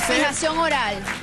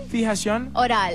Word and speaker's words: Fijación Oral: Fijación Oral. I said it like Spanish 50 album? Times over there. Yeah, how do you say it again? Fijación Oral.